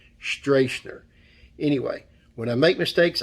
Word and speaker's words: Stracner: name a few times in this video it's pronounced Josh streisner streisner anyway when I make mistakes I'd like to